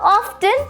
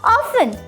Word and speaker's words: often: And most importantly, it's not often, it's often.